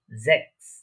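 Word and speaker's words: sechs: আমরা সাধারণত দেখেছি অনেক জার্মানের ক্ষেত্রে জেডটা স বা এস এর মতো উচ্চারণ হয়, আবার এসটা অনেক সময় এস ও উচ্চারণ হয়, আবার জ বা বর্গীয় জ যেটা বলে থাকি আমরা বাংলাতে ওইটার মতো উচ্চারণ হয়। তাহলে এটার প্রনাউন্সিয়েশন কি হচ্ছে জ্যাক্স।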